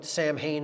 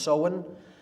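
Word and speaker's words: Samhain: soin pronounced so when it looks like Sam Hayne in English but it's pronounced sohen in Gaelic and that is Halloween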